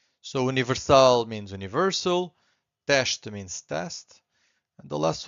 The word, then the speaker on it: teste: So again, S before a consonant, it's a sh. Two syllables here, we have to stress the first one, so it's teste. So we stress this one, and the second one is weak.